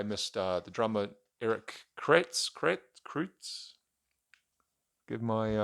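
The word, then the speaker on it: Kretz: finally I I missed uh the drummer Eric krates give my pronunciation might save it here correct I was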